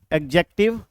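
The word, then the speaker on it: adjective: noun उसके बाद आता है हमारा pronoun एडजेक्टिव ए डी जे ई सी टी आई वी ई आपको जानना चाहिए कि यहां पे डी साइलेंट होता है और इसे हम लोग प्रॉपर्ली एडजेक्टिव बोलते हैं लेकिन आप बोलचाल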